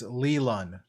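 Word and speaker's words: Leilon: it's l it's spelled l-e-i-l-o-n uh but uh the annunciation i have selected is lelun oh i totally went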